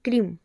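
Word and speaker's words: क्रीं: जैसे माँ काली का बीज मंत्र है क्रीम। बहुत लोगों को इसका उच्चारण नहीं पता है, कोई इसे क्रिंग बोलता है, कोई इसे क्लिम बोलता है, लेकिन इसका जो सही उच्चारण है वो है क्रीम।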